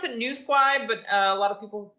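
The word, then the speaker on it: Nouseguay: is that how it's pronounced uh well we pronounce it new squad but a lot of people call it nosegay uh or something i don't know how you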